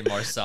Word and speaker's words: Marseille: Marseille? Yeah, Marseille. Yeah. I knew I was gonna say it wrong. I was gonna say Marcel. I was gonna say Marseille.